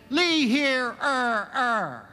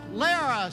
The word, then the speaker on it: Lehrer: and he got to mine and he said Lee here er er and like some kind of idiot I blurred it out it's pronounced Lara sir there was silence absolute silence and then